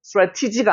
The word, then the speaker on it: strategy: strategy가 아니고 strategy 이렇게 발음이 나는 거예요.